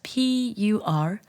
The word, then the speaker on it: purlicue: It's Purlicue.